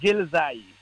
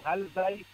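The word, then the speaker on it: Ghilzai: L'autre branche des Pashtuns, ce sont des Gelzai. Relzai ou Ralzai, on le prononce différemment.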